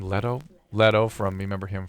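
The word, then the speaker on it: Leto: If that was not in the site, question next week, Jared, is he pronounced name? Letto.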